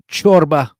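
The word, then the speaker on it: ciorbă: let's hear this uh how to pronounce ch in Romanian I want to see if I'm right or wrong play it ch ch I was right chorba I would be Enzo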